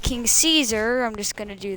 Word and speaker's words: King Caesar: gear is versus king king caesar or king sisa whatever you want to pronounce i don't know i'm doing kings you saw because i liked you know it's pronounced king caesar i'm just going to